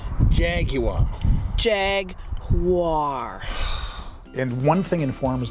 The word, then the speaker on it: Jaguar: No, you said Jaguar. It's Jaguar. Jaguar. No, 3 syllables. Jaguar.